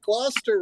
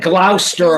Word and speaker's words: Gloucester: Everybody got Gloucester, right? I've said Glouester a lot.